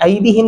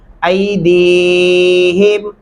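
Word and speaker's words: أيديهم: یا لامو ما بین ایدیہم. اور ایک غلطی میں نے یہاں پہ بھی دیکھی ہے ایدیہم. اکثر لوگ اس کو ایسا پڑھ جاتے ہیں، ایدیہم نہیں پڑھنا، ایدیہم.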